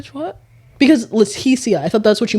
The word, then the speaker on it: Letitia: So, it is Leticia, but you say Laticia. My name is spelled L E T I T I A.